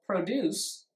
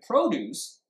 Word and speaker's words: produce: So produce is a verb, and produce is a noun. So it clearly affects meaning.